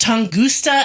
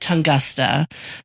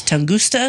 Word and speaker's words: Tunguska: So our last Origin of Weird was on the Tunguska event, which is pronounced Tunguska, and I said Tungusta. So there was a person in South Carolina who said it was Tunguska.